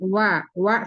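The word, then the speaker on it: و: Huruf wa mulutnya dimonyongkan ya bibirnya. Iya. I disempurunakan dimonyongkan dulu baru wa firuna wa firuna dilutad.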